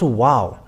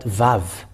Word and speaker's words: Vav: It's not wow, but Vav. That comes, where the wow comes from, and it is surprising because if it's W and A, it's a Va. Whatever you may call it, it's a Vav.